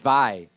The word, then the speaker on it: Zwei: Zooey? It's cuter. So, I wish we did it with the German things. Zwei. oh, Like that's well, what it's supposed to be. Ein, zwei.